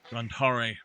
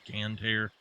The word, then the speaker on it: Gandhari: And we are going to go for the Gandhari rifle. And yes, I do believe that is how it should be pronounced instead of Gandhar. It should be Gandhari.